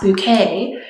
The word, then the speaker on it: Bucket: Hyacinth Bucket, it's pronounced Bouquet, who is married to a middle-class office worker and is very obsessed with, as the title might imply, keeping up appearances.